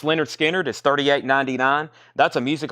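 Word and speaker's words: Lynyrd Skynyrd: Leonard Skinner, pronounced Leonard Skinner, is $38.99.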